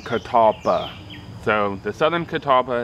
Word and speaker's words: Catalpa: Native American word but it's spelled and pronounced a little bit different than the Native Americans who pronounced it Catawba rather than Catalpa so the southern Catawba